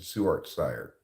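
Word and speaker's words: Ssuarts Cire: you pronounce seart sire I pronounce it seart sire it's just my name backwards SSU a RTS c i r e backwards is yeah seart sire but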